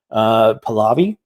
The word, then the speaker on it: Pahlavi: And one of the people that was involved in doing this was a guy named Mohammad Reza Pahlavi. It's the proper pronunciation of that, the Pahlavi dynasty.